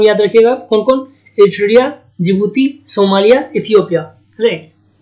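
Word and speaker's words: Djibouti: यहाँ देखिए, जिबूती डी से लिखा हुआ है लेकिन डी साइलेंट है।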